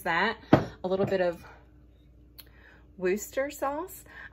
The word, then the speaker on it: Worcestershire: I'm pretty sure one of my viewers told me that's how that you're actually supposed to pronounce it, not Worcestershire, which is basically how I've said it my whole entire 41 years of life. I think it's Worcester. Am I right?